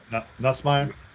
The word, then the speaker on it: Nussmeier: Garrett Nussmeier, is that how you say it? No. Nussmeier?